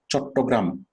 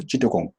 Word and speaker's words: চট্টগ্রাম: চট্টগ্রাম আমরা যেভাবে বলতে পারি, ইংলিশ মানে ওভাবে পারে না, তারা বলে চিটাগং।